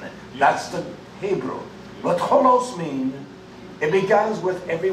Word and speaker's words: holos: this is the word called, it is called holos. Not W-H, but H-O-L. Holos. This is what he says when he says all. Whole means the whole, the substance, the fullness, doesn't it? That's the Hebrew. But holos means it begins with every whit.